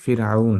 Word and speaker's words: ফিরআউন: আমরা বাংলায় ডাইরেক্টলি ফেরাউন বলি, বাট শুদ্ধ উচ্চারণ হচ্ছে ফিরআউন।